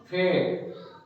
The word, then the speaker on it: fake: जैसे for example, जैसे फेक, क्या करते हैं, फेक. फेक है FAKE, मतलब लास्ट में जो ई आया इसका हम प्रोनाउंसिएशन नहीं करेंगे.